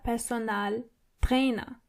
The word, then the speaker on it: Personaltrainer: A personal trainer is der Personaltrainer. So it's similar, but you have to roll your R one more time. Der Personaltrainer. And the A in personal is more obvious than the English version.